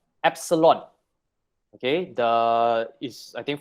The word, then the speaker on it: epsilon: is this e okay e this is called epsilon okay the is i think from the greek